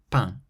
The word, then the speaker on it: pain: So you've got an I, which is a vowel, followed by the N at the end of the word, pain.